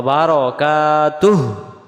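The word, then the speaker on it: بركاته: ওয় রাহমাতুল্লাহ যেন না হয় ওয়া রহমাতুল্লাহি ওয়া বারাকাতুহ আমরা এটাকে বলে ফেলি ওয়াবারাকাতুহ ওয়াবারাকাতুহ বারাকাতু পড়লে বার জবর বার হবে উচ্চারণ হবে ওয়াবার যেমন নয় দশ 11 12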